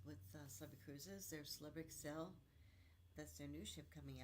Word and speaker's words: Xcel: Their Celebrity Excel. That's their new ship coming out, and it's spelled XCEL, Celebrity Excel. So she will excel at everything, but it's spelled XCEL, so you don't get it wrong.